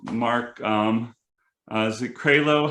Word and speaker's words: Krailo: we are with mark um uh is it craylo how making sure i get your last name pronounced correctly correctly that is it um and